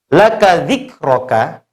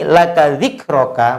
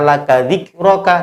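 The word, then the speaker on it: لَكَ ذِكْرَكْ: Maka bisa kita contohkan, lihat laka dzikroka. Perhatikan contoh ini, laka dzikroka, maka ketika hendak berhenti tidak boleh dibaca laka dzikroka, tidak boleh, tapi harus disukun akhirnya. Maka bacanya jadi laka dzikrok.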